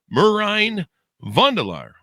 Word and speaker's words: Merijn van de Laar: Out May 20th, 2025, we have Merine Vandelar on the show with us.